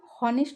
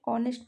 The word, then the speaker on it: honest: तो ये ऑनेस्ट भी हम लोग को हॉनेस्ट नहीं पढ़ते, ऑनेस्ट पढ़ते हैं, इसके साथ भी एन होगा।